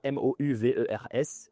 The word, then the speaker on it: Movers: Movers, Mouvers. Et ça s'écrit Movers avec Nomad Slim.